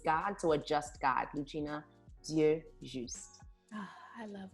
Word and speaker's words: Ludgina: But right, the D is silent, so it's Ludgina, Ludgina, and the D is silent.